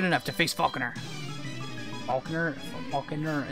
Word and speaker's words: Falkner: Falkner? It's just Falkner. One, two syllables.